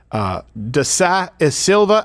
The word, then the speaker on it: Da Silva: And it was between this congresswoman and Professor Da Silva. How do I pronounce that name?